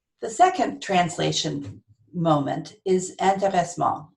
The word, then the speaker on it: intéressement: The second translation moment is intéressement. I say it in the French way because I have no idea how to say it in the English way.